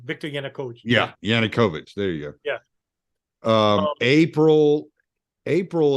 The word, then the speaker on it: Yanukovych: I said his name wrong. Viktor Yanukovych. Yeah, Yanukovych.